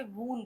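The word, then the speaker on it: wound: अगर चोट के सेंस में यूज़ कर रहे हैं तो आप इसे वून बोलेंगे।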